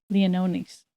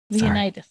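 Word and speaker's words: Leonidas: it right and uh Dimitri leonis or Leonas great leonitis leonitis thank you great cast yeah I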